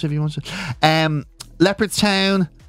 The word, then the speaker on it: Leopardstown: Leopardstown, it's not about the big cats, of course. No. Some people call it leopards. I suppose leopard. It's all about how you're saying leopard, really. Leopardstown.